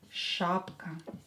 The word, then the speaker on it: шапка: Шапка. Шапка. Ударение на букву А is a fur hat.